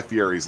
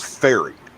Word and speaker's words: Fieri: There's no weird pronunciation of Guy Fieri's last name. His actual last name is Ferry. His name is Guy Ferry, so it's not Fieri.